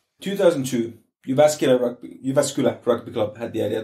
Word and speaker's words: Jyväskylä: in the show notes because Jyväskylä is spelt differently to how it sounds.